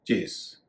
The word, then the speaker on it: chase: इसका उच्चारण कई लोग गलती से चेज कर देते हैं। इसका उच्चारण है चेस, PHASE फेज, लेकिन CHASE चेस।